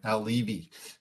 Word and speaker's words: Al Levi: yes also thank you for getting my name pronounced right al levy it is a weird